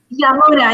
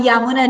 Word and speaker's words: Yamuna: So Yamuna, that's how you pronounce it, right? Yamuna? Yamuna, yes. Named after a river in India. Yeah, so you can start with you. My apologies. Yeah, that's fine. Thank you, James. So I'm Yamuna.